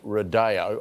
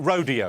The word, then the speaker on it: rodeo: i think it's it's better when you pronounce it rodeo rojo thank you okay rodeo drive are you that'd be correcting me mate it's rodeo i mean um what should